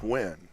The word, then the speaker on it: Nguyen: That's, the Vietnamese name, but it's pronounced Nguyen.